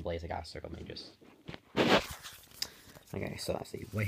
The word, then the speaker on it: Magus: I'm pretty sure it's pronounced Magus.